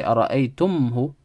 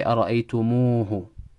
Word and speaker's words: أَرَأَيْتُمُوهُ: We add a واو in between to make it easy to pronounce. Rather than say أَرَأَيْتُمْهُ, that's how it's supposed to be originally, right? أَرَأَيْتُم, and then we bring the ها, أَرَأَيْتُمْهُ. Rather than say that, we say أَرَأَيْتُمُوهُ.